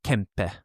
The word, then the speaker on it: Kempe: So that's another one too, where if you don't know he's Swedish, people see that and they're like Adrian Kempe or like. No, they probably say it like that, or maybe Kempe. Yeah, but it's like in Swedish, it is very Swedish. Say it Swedish.